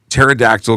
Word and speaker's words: pterodactyl: why can't you hear pterodactyl go to the bathro because the PE is silent yeah I like it